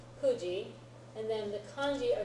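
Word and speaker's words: 九時: Kuji, right? Remember it's pronounced ku, not q, when you're talking about time. Kuji.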